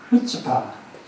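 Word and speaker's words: chutzpah: 히브리어는 앞에 C를 발음 안 해요. 어떻게 발음이 됩니까? 후츠파.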